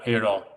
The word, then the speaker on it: Heyerdal: Yeah, how do you say your last name? Heyerdahl? Yeah, Heyerdahl.